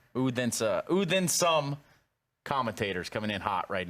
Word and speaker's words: Odense: You've forgotten how to pronounce it after the first week. Ready? Like with me. Odense. Odense.